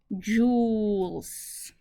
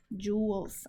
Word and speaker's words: joules: the units that's correct Newtons times m which are joules Jewels I always say it wrong joules yeah in my language you say Jolie so I would say Joe's and then I tried